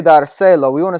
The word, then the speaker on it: dárselo: Quiero dárselo. Now, because I've added two syllables here, now my natural accent is on my second to last syllable because it ends with a vowel.